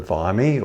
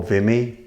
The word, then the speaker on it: Vimy: squadrons by July 1919 the viy or vime pronounce it as you will was of a